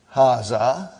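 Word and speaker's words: ها: going to erase it haa see it is pronounced like ha huh but this Al if is not written huh it is explained in the key also so it is haa okay haa means this and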